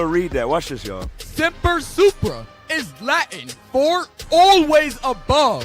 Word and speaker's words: Semper Supra: it up too, there's a motto that's called Semper Supra. So you could spell it it's spelled S-E-M-P-E-R, Supra, S-U-P-R-A.